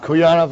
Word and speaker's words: Kuyanov: That's perfect. Kuyanov is perfect.